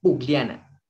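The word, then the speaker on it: pukllana: Aquí sí la K suena como la G. Pugliana. ¿Sí?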